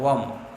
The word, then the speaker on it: वम: वम, बम नहीं करना है, वम, वा का उच्चारण करना है, बा नहीं है, वा है, वा के ऊपर एक बिंदु रखी हुई है, वम, बम नहीं, वम।